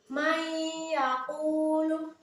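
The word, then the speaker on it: مَن يَقُولُ: Contoh, may yaqulu, may yaqulu. Jadi antara nun sukun dan iya itu dimasukkan dengan mendengung, may yaqulu.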